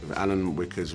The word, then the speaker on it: Alan Wickers: Alan Wickers rhymes with knickers, okay?